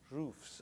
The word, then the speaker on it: roof: people pronounce it rough different parts of the United States have different pronunciation for this please repeat West West